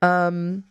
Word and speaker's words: VSCO: Visco girl. Is that how people say it? I know it's VSCO, but I just say Visco.